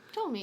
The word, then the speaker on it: Ptolemy: That they were basically mercenaries employed by oh my gosh, how do you pronounce this Egyptian? Ptolemy II? Oh, Ptolemy, yeah.